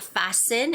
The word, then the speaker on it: fasten: And the word fasten, you do not make the sound for the T.